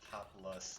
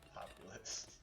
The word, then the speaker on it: Populus: I've been saying it wrong this entire time. It's a populist, not a populist. I feel kind of silly for calling it a populist. It is a populus, not a populist.